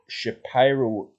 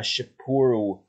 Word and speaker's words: Shapiro: is known as a shyro Kaiser Cyclone so what actually is a shapur that's probably the best pronunciation shapur Kaiser Cyclone they